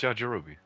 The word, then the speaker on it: Yajirobe: That's how you pronounce him? Yeah, it's Yajirobe.